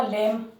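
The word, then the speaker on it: lamb: ठीक है, एक शब्द आपने सुना होगा लेम। लेम बोलते हैं इसको, तो यहाँ बी साइलेंट रहता है।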